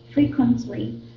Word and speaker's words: frequently: Frequently, Okay. It's called. It's pronounced as frequently. Frequently. we don't pronounce T sound. Nope. In this case, you don't.